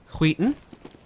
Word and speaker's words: SKYTTEN: And as they slowly creep their way in, SKYTTEN. That's right, I learned how to pronounce it on the break.